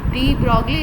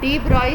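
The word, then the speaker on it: de Broglie: था एक साइंटिस्ट थे डी ब्रॉगली लिखा हुआ है लेकिन इसको प्रोनाउंस करते हैं डी ब्रॉय साइंटिस्ट थे, इन्होंने बताया था।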